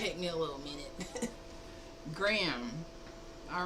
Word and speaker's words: Graham: Graham. Oh, Graham. So, I did say it right one of those times. I said Grammy. Grammy. But it's Graham. like graham crackers.